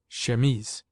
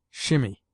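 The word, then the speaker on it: chemise: We derive from the French language our word she pronounced shememes. In French the word denotes a man's shirt as well as the undergarment worn by women. In this country, it is often pronounced by people who should know better, shimmy.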